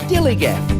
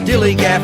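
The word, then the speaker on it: DILLIGAF: That's spelled D-I-L-L-I-G-A-F, Dillygaff.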